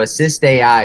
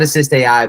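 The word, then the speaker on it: AssistAI: people there two eyes so assist AI is what it's called and it has two eyes so assist a we call it assist AI but it's spelled assist aii to be on brand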